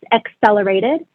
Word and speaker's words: Excelerated: So it's Business Excelerated, and Excelerated is spelled EXCELERATED. So excel like excellent, Excelerated.